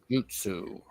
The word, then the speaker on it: jutsu: Jutsu. Okay. Yeah. Think of that like J-Y-U, Jew, Yeah. almost like Jew, like Jewish, but not exactly.